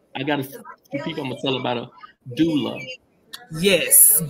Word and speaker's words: doula: gotta tell about a doula yes do love pronounce d-o-o-dash l-a-h look right we are